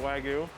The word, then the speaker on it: Wagyu: I pronounce it Wagyu.